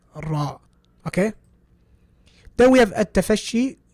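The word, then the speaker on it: ر: Repetition. Don't go overboard, obviously. So ra. Don't be like ra. No, don't go overboard. Just ra.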